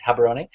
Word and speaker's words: Gaborone: It might look like Gaborone, however, it's spelled Gaborone, or sorry, pronounced Gaborone.